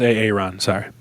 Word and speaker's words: Aaron: It's pronounced Aaron.